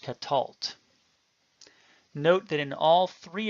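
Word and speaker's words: קָטַל: it is also So Silent this word is pronounced Catal note that in all three of these cases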